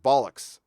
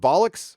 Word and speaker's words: bollocks: to mispronounce this again bollocks is it bollocks or bullocks i always want to say bullocks but i think it's bollocks um i'm an american